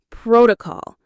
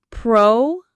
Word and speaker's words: protocol: Protocol. Let's say it. Pro-to-call. Protocol. Stress on the first syllable, protocol.